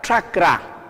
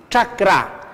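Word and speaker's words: ch'akra: Entonces, CH, un apóstrofo, y ya les dije que se pronuncia cerca al paladar y los dientes, así, tra. Les presento la palabra chakra, así, chakra.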